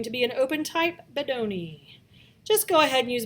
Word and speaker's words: Bodoni: No, not Bodini, Bedoni.